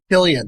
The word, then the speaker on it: Cillian: Cillian, yes, it's Cillian Murphy. Yes. Hard He's C. Irish. Yeah, hard C.